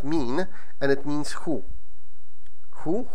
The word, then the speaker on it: min: and mi n with a single and is pronounced mean and it means who who who is there